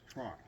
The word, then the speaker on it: Trout: is pronounced Georg, and Trout is pronounced Trot.